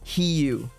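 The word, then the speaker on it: Huw: Yeah, the the Hugh the the surname there um H U W. Uh it's heu. That's how it's said. He cuz the the U is an I or is an E sound like in my name.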